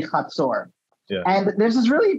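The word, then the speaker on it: חצור: the confederation of Hazor, which in English you might want to pronounce as Hazor or something like that. Hazor, but in Hebrew it's going to be Hazor.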